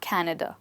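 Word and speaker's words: Canada: आगे पढ़ाई के लिए कनेडा जाना चाहती हूं और इंग्लिश में आप कनाडा बोलें अब चाहे हिंदी बोलें चाहे इंग्लिश बोलें आप इन्हें अमेरिका और कनाडा बोलेंगे इससे अगला वर्ड है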